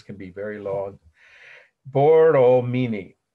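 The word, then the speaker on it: Borromini: can be very long bordeaux meanie it's fairly phonetic if you say it slowly and pronounce it correctly but i'll spell this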